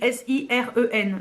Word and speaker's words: Siren: En français ça serait plus Sirène, mais ça s'écrit S-I-R-E-N, donc Siren en American, mais c'est sur les sirènes.